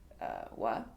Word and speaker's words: は: Well, it's particle, and it's supposed to be pronounced wa, but it's letter ha.